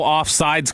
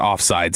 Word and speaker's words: offside: And by the way, it's offside, not offsides, as Dawson corrected everybody in the group chat the other day.